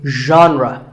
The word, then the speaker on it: genre: The correct pronunciation is genre. Pay attention to the first sound. It's like sh, but you have to put your voice into it. Genre, genre.